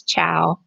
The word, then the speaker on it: Chao: Um, it's short for, and my last name is Chow, like Chow, but it's spelled like chaos without the S.